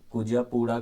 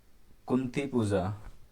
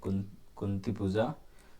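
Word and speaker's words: Kunthipuzha: फिर silent national valley में भी एक कावेरी नहीं बहती है। कुजापुड़ा करके कुछ तो रिवर का नाम है।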